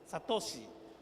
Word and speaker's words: Satoshi: There is a difficult pronunciation in Indonesia. Satoshi.